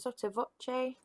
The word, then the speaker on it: sotto voce: We've still got our anacrusis, and we've also got this performance direction here, which we pronounce sotto voce, and it means under the voice or half voice.